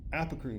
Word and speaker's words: apocrine: Apocrine glands or apocrine glands. I've heard it pronounced both ways.